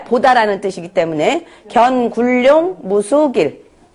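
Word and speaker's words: 견군룡: 용구 견굴룡 무수길. 이거는 견으로 해야 돼요. 보다라는 뜻이기 때문에 견굴룡 무수길.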